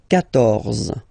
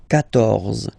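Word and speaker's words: quatorze: So remember Q and U here. Well, basically you get to put this U vowel, because that's the rule in French, even if you don't pronounce it, okay? So you will get the sound K here. K, 14, 14, okay?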